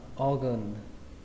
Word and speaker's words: organ: Các bạn đọc là O, O. Chúng ta xuống giọng âm thứ hai, đó là âm gần, gần. Chúng ta ghi là A, nhưng mà các bạn cứ tưởng tượng đây là âm ơ các bạn nhé. Đọc là organ, organ, organ.